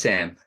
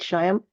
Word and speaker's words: Shyam: mispronouncing your your name it's Sam yeah is it sham no it it's like s the two letters are silent Sam it's like Sam oh okay okay uh